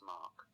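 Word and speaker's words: 妈: m a macron ma that was a first tone which is a high flat tone with a 5 5 contour next we have hemp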